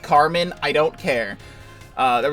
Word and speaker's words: Carmine: was named car uh I keep saying Carmine apparently it is pronounced Carmen I don't care uh